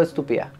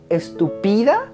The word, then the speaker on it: estúpida: importa si es algo estúpida se dice estúpida no se dice estupida no se dice estúpida sí no es esdrújula las esdrújulas siempre llevan ti Miren qué linda se